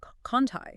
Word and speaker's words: Conti Street: Conti Street is Conti. Conti, okay. And that word Lagniappe, Lagniappe, it's pronounced Lagniappe.